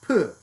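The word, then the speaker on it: བོད: related to tibetan because bod b-o-d is the tibetan spelling is is a transliteration into roman of the tibetan spelling of their name which in lhasa the capital of tibet is now pronounced something like poo because the language has changed over time but the writing has not but bordik doesn't mean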